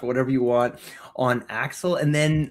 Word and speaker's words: Axel: Yeah, just Axel.